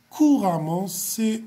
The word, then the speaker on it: couramment: m un peu et nt1 se prononce comme a alors courant va devenir couramment coi et à m